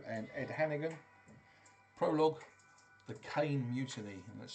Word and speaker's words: Cain: Prologue, The Cain Mutiny, and that's spelled C-A-I-N without the E.